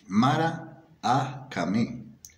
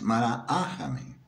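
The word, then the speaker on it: mara'akame: Mara ahame, pronuncian ellos, Mara ahame, que según los antropólogos es el chamán de la comunidad.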